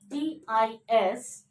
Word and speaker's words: distinguish: Da, I, sa, ta, I, ing, ga, wa sound, I, sha sound. Okay, distinguish. Distinguish. And the stress mark over S, that's why we have to say distinguish.